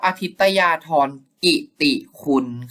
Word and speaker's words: อาทิตยาทรกิติคุณ: เรียก ท่าน ว่า โป่ง อาทิตยาทรกิติคุณ นะ ครับ โดย พระ นาม การ อ่าน ออก เสียง ดัง นี้ พระ เจ้า วรวงศ์เธอ พระ องค์ เจ้า อทิตยาทรกิติคุณ ครับ เป็น ไง เป็น ยัง